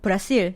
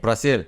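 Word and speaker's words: Brasil: 칠레에서 브라질을 부를 때는 브라실. 브라실.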